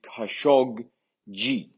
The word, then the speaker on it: Khashoggi: So if you just remember that this is a hard G and that's a soft G, you're 50% of the way there. So it's actually Khashoggi.